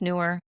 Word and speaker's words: Neewer: And that I'm using a Newer, I think it's pronounced Newer, and EEWER.